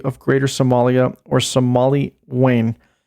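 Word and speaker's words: Weyn: Greater Somalia, or Somali Wayne. That is spelled W-E-Y-N, so I think I pronounced that correctly.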